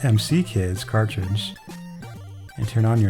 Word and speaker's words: M.C. Kids: even says right here insert the mick kids that's pronounced MC kids cartoons and turn on